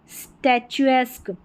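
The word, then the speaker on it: statuesque: यहां पर देखिए पिक्चर पिक्चरस्क एस्क करके उच्चारण आ रहा है। यहां पर है स्टचस्क स्टैचस्क एस्क फिर यहां पर है ग्रोटस्क ग्रोटेस्क ग्रोटेस्क ये भी एस्क उच्चारण है। अरबस्क अरबस्क या अराबस्क फिर यहां पर है बरस्क बरलेस्क एस्क सभी में एस्कर के उच्चारण है।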